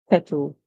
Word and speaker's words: kettle: The Caribbean people would say kettle, kettle. And the Americans would say kettle, kettle. So they're gonna wrong look up to say O. And the British English you hear O.